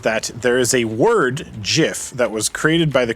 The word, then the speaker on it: GIF: that it's Jeff and when people say jiff with a soft G that's what they're referring to and that's correct and then the acronym gif is pronounced gif and that is somehow